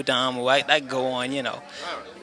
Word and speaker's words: Damu: They in Shaolin, gave the monks a lot of discipline, and it's pronounced Tamu, Damu.